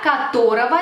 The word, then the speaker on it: которого: Fijaos bien que escribimos como ого, pero pronunciamos como ова. Por ejemplo, это озеро, которого здесь нет.